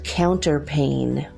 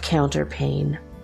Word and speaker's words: counterpane: is the land of counterpane mmm I don't let that word means but it's spelled Co UN ter PA and E so pain is felt like a windowpane what is called the